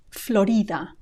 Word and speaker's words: Florida: which we just so Florida Florida notice also the stress it's not stressed on the o the way it is in English but on the I Florida Florida with that